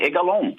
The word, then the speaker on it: Egalon: You pronounce my name correctly. Egalone, right?